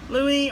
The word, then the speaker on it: Louis: and it especially name's Louie or Louis I'm gonna pronounce it Louie because that's what I'm used to it's spelled lui and